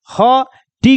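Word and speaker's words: hot: वैसे ही है एच को प्रोनाउंसिएशन क्या कीजिएगा, ह, टी को क्या कीजिएगा, ट, और दो कॉन्सोनेंट के बीच में ओ आया तो ओ लगा दो, तो क्या बन जाएगा, हॉट, क्या बन जाएगा, हॉट।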